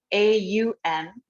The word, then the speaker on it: Aum: But an om, A-U-M, Aum.